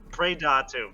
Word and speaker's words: Praedatum: Um, his current main project, I'm I never pronounce it correctly. Uh, per parad, can you help me here? Pradatu.